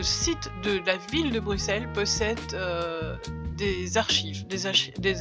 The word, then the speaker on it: Bruxelles: allons aujourd'hui visiter Bruxelles Bruxelles comme on dit réellement le X se prononce comme 2 S Bruxelles il y a des